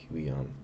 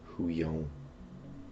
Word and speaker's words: Huion: Huion, but it came off. Maybe it's Huion. Like bouillon. It's not spelled like bouillon.